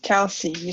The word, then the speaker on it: Kelsey: And I think it's Casey or Kelsey. I'm sorry if I mispronounced your name. No problem. It's Kelsey. So you said it correctly the first Kelsey.